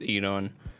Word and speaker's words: Enon: And then, other than that, looked up afterwards that we were mispronouncing Anon's name. It was Enon all along, but that's my literacy and pronunciation for you.